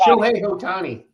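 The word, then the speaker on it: Ohtani: Is it Otani? What's his name? Oti Otani.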